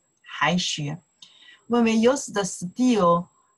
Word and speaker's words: 还: 还书, just say return, return book, return books, right? 还书, okay, this character after, see the noun, more prefer for return, we pronounce the 还.